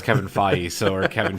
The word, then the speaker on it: Feige: Well, I still don't know how to pronounce Kevin Feige, or Kevin Feige.